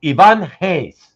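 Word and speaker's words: Ivan Reis: has ever said it it's Ivan Hayes right and he's as in like with the H right it sounds like an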